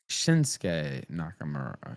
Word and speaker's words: Shinsuke Nakamura: sound mean, but it's Shinsuke Nakamura. It's not Shinsuke. It's Shinsuke, not Shinsuke, right? You don't pronounce it right that way? Okay. No, it's Shinsuke Nakamura, and it's Asuka. Asuka, not Asuka.